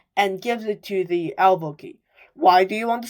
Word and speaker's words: alveoli: I don't know if I'm pronouncing it right, but I think it's alveoli.